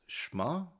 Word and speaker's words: Schma: all about 30 by I'm going to pronounce this shma shma almost sounds like the